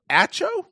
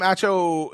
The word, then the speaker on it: Acho: Sam Acho? I don't even know how to say this guy's name. Acho Mama. Yeah. It's Nacho without an N.